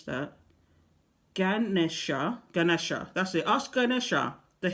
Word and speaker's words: Ganesha: Ask Jenethsha, I can't pronounce that, Ganesha, that's it.